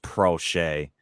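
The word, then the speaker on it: Proche: the other night um it's pronounced pro shay we got the grammar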